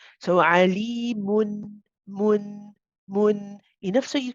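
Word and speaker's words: عليمٌ: And this noon that you do pronounce at the end is tawassut. It's the one which is not too long, not too short. So alimun, mun, mun.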